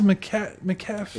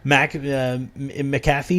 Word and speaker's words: McAfee: McAfee, is that how you say it? Yeah, McAfee.